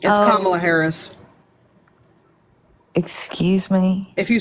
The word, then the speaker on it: Kamala Harris: It's Kamala Harris.